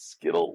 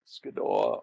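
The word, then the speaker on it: Skiddaw: Well, it's they pronounce it Skittle like the candy. Actually, it's pronounced Skidaw. That's why Skidaw.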